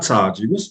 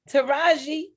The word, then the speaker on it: Taraji: Not Taji. How you pronounce her name? Taraji? P. Henson. Taraji.